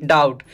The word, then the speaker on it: doubt: Next word is डाउट। DOUBT। यहाँ पे B silent होगा और हमें क्या प्रोनाउंस करना है, DOUT, डाउट।